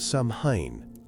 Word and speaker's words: Samhain: It was called Samhain, pronounced Samhain.